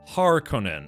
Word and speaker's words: Harkonnen: So yeah, if you think Conan, like Conan the Barbarian, you know that's spelled, what is it? It's like Conan. So if you put har in front of that, it would be like Harkonnen, right?